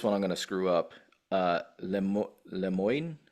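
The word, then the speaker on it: Le Moyne: Lemoyne, I believe it's pronounced Lemon, Lemoyne, LIU, Long Island.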